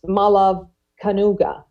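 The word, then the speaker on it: Malav Kanuga: to our next speaker I want to correctly pronounce the name of one of the founders of common notions and that is mala Canoga and he has been critical to bringing this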